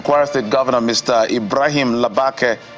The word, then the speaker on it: Labake: Ibrahim Labake, how do you pronounce it for me? Says he's resigned. Labeka.